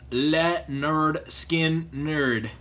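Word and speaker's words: Lynyrd Skynyrd: I think it's funny because this actually says pronounced Le nerd skin nerd so apparently people could not pronounce it back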